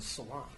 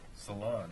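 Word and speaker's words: Ceylon: It's pronounced Salon. Salon, oh, so it's like where you get your hair done, not that country over there.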